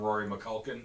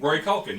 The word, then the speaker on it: Rory Culkin: Kevin kept calling him Rory McCulkin, so now he's always Rory McCulkin. Wait, what do I call him? Rory Culkin. You were fine. You were fine. You said it right.